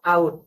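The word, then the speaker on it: out: মত হবে এর মত যেমন ও এইর পরে টি আসছে কি হল আদার আবার ও ইউ ওটি আসছে উচ্চারণ হল আউট ও এর পরে যদি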